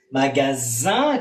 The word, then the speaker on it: magasin: Primero se escribe diferente, pero obviamente la S y la Z tienen el mismo sonido aquí, ¿eh? Magasin, como sonido Z, magazine. Entonces no es aquí que hacemos la diferencia, excepto el escrito.